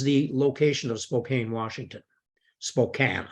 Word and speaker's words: Spokane: location of Spokane Washington Spokane I should pronounce it the American way Spokane Washington so David Thompson